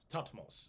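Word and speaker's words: Thutmose: is hutmos the third topmost would be probably pronounced but it's t-h-u-t-m-o-s-e tatmos so uh uh thought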